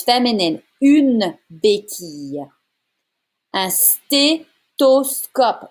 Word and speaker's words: stéthoscope: Un stéthoscope. There's no TH sound in French. It becomes a T sound.